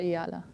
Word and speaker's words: Eala: name iala IA yeah so I say yala yeah okay um in the